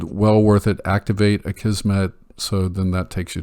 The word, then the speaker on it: Akismet: and Hello Dolly now a kismet which for some reason I always used to call a scheme at four years I called it a schema and I finally realized that's not how it's spelled it's basically a comment